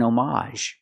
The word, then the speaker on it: homage: this word after n it was an omage it's more common to hear that pronunciation again the H is silent but you have the a sound at the end it was an homage